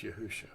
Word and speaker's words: Yahusha: am your deliverer yahushua it has a suffix yahuwah shah it's just pronounced yahusha now we call it